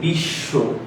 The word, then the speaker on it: বিশ্ব: শব্দের শেষে বফলা থাকলে বয় উচ্চারণ দীপ্ত হয়। যেমন দেখেন দেওয়া আছে বিশ্ব। এই যে 20 এই সটা দীপ্ত হইছে দুইবার উচ্চারণ হইছে তার মানে এখানে যে